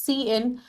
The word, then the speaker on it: cin: Now cin pronounced as cin, ये एक iStream class object है जो ट्राई करता है टू स्टैंडर्ड इनपुट.